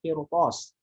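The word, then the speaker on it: قرطاس: Lalu begitu pula dengan lafaz qirtas. Kenapa sebelumnya kasroh dibaca tebal ro-nya? Karena di situ melihat i'tibarnya adalah roh huruf setelah roh apa? Huruf ko. Huruf ko adalah huruf isti'la. Huruf isti'la plus itbaq. Nah, Karena ro bertemu huruf tebal, maka ro ini ngikut tebal.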